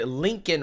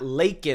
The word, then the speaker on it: Laken: didn't say it right he said Lincoln Riley not leak Riley uh Lincoln Riley is